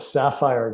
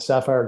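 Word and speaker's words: SAFIRE: being done by the sapphire group that's spelled s-a-f-i-r-e the sapphire group who base their research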